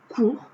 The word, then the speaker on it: court: Et enfin, court, parce que ça se termine aussi par un T, mais on ne le prononce pas.